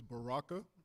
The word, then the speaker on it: Baraka: Uh my name is Baraka. So that's Barack with an A.